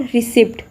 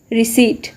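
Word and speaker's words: receipt: इट्स नॉट रिसिप्ट, इट्स रिसीट. इस word के अंदर पी साइलेंट होता है.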